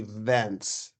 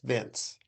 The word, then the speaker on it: Vince: Um, I don't think it was ever mispronounced except for once, and somebody was calling me Vence, like Vence. Okay. And I just said it's not Vence, it's Vince.